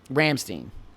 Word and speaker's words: Rammstein: Is it Stein or Steen? Steinstein, I don't know. I'm an American. Well, if you're going to get behind them, you got to know how to say their name. Rammstein. There you go. Rammstein. Every time you say it, you have to say it. Rammstein.